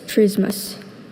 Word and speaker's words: trismus: Trismas. T R Y S M U S. Trismus. Trismus is spelled T R I S M U S.